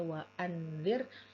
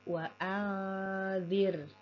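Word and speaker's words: وَأَنذِرْ: dan disertai dengan dengung Jadi bukan dibaca waanzir tapi wair wair dan gunahnya disempurnakan nah di bagian ini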